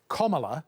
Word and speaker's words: Kamala: to American, but so the phonetic guide is Kamala, as in the punctuation point, comma, la, but said with an Australian accent rather than an American